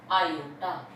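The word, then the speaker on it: iota: इसी को हम √-1 को ही हम बोलते हैं आयोटा। इसको मैं क्या बोलते हैं, हम ब्रैकेट में लिखती हूँ मैं आयोटा, लिखते हैं स्मॉल आई, ठीक है, और इसको प्रोनाउंस कैसे करते हैं, आयोटा, ठीक है।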